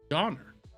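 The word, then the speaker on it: döner: Oh, donor.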